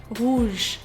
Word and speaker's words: rouge: If we were to take the word red in French, which is rouge rouge, the vowel sound immediately after r is ooh ooh ooh.